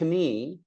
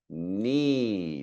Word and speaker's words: knee: This is not pronounced knee. It's pronounced knee.